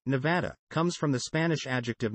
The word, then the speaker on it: Nevada: Nevadans pronounce the second syllable with the of trap, while some people from outside of the state pronounce it with the of palm.